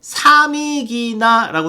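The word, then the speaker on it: Samigina: 사미기나라고 써있죠. 여기서부터 보면은 사미기나. 영어권에서는 사미기나라고 읽는다고 말씀드렸죠.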